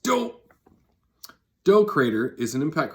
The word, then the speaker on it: Doe: Literally pronounced Doe.